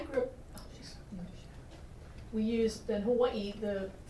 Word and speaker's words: Hawaii: up we used in Hawaii the the letter W is pronounced with a v Hawaii so we use